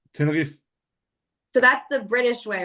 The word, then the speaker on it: Tenerife: Going to that tiny island down there in Tenerife, man.